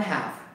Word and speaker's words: half: So there are 8 multiplied by 1 half. So that is halves. Okay, so English, right? Singular and plural, half and half. Half meaning H-A-L-V is silent L.